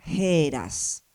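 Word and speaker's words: Ἥρα: puesta la transcripción y acá la eh pronunciación que era heras, o sea, en este caso también tenemos una ETA aspirada.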